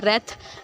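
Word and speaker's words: wrath: अब इसमें W silent चल गया, रेथ।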